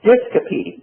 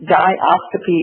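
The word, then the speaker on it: diascopy: wide and that's called disc o discopy di oscopy or discopy I've heard it pronounced both way and what um people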